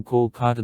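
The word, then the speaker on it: Kolkata: local government decided to change writing of the city to call carter that corresponds to the bengali's pronunciation of the name of beta on july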